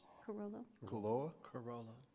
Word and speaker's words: Carollo: Pronounce that. Carollo Engineers. Carollo.